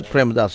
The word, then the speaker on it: Premadasa: this is going to be played at the premadasa stadium I hope I pronounced that correctly that's right that's premadasa Stadium um we had a quite a few